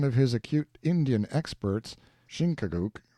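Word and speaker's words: Chingachgook: his acute Indian experts shinka Guk pronounced Chicago I think has lost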